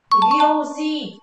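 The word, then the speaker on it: 行事: Hành sự đọc là gì đây? Gyoji, đúng rồi.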